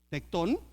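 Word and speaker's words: tekton: Y cuando lo traducen a latín, tradujeron la palabra original para definir el oficio de Jesús, que se escribe t e k t o n tectón.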